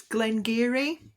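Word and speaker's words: Glen Garioch: it's Glengarry, it's called, and Geary is spelled Garioch, and it's lovely.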